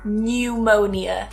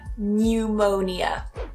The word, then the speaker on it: pneumonia: And another one, pneumonia. So you've got that ny in there, pneumonia.